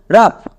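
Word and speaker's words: rough: এবার ও ইউ ও ইউ এর জন্য হয়ে যাবে আকার। আউ সাউন্ড কিন্তু হবে না। তাহলে আকার বসিয়ে দাও। নেক্সট জি এইচ শব্দের শেষে আছে। তাই এর জন্য ফো। এবার একসঙ্গে উচ্চারণ করো। আর ও ইউ জি এইচ রাফ সো এখানে আমরা জি এইচ এর জন্য ফ পেলাম একই রকমভাবে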